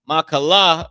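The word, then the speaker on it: מחלה: So this word is pronounced ma la l ah the character la and the character ha are connected right they're connected mala is sickness okay how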